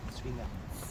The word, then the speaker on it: Zwinger: It's Z-W-I-N-G-E-R. The Germans pronounce it with a hard Z at the beginning, like Zwinger.